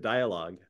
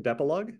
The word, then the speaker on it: Decalogue: He is the executive director at Decalogue.